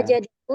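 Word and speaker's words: وَجَدَهُ: wajadahu ya Ustadz ya. Wajadahu itu Wajadahu. Wajadah. Anak bacanya salah Ustaz. Anak bacanya wajadah. Dikasih tasydid. Nah, disalah kan? Ya, ini diluruskan.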